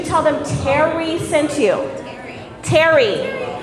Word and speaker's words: Terri: Terri. It's spelled T-E-R-R-I, T-E-R-I, Y, but it all sounds the same, short for Teresa.